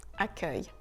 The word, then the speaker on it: accueil: Le C suivi d'un U se prononcera toujours que, comme dans le mot accueil.